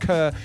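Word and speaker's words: KRR: K-R-R, but pronounced Kerr.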